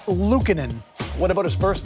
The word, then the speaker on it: Luukkonen: Luukkonen.